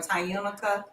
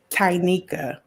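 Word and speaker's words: Tyunika: Tyanika or Tyunica. Tynika. Tiny. Tanika. Tiny. So the U is not The pronounced. U is not Silent. pronounced. Tynika. See, I was calling you Tyunica.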